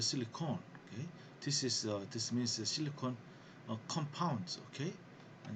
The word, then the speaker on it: silicone: Okay, and the spelling is, you see, it has E, silicon, SILICONE. Yeah, but the solid silicon spelling is different. There is no E, SILICON. Okay, but the pronunciation is the same.